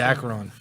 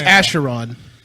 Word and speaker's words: Acheron: The Acheron. Which we're saying it wrong. I know It's Acheron.